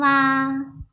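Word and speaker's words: は: Chữ ha ở đây đọc là wa vì nó là trợ từ.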